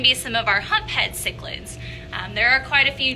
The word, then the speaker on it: cichlid: So that word is pronounced cichlid. Cichlid, but you hear it pronounced all kinds of ways, don't you? I get lots of interesting people trying to come up with their own pronunciation for it. So I hear chiclet a lot. I also hear chi-child, but the proper pronunciation for that is cichlid.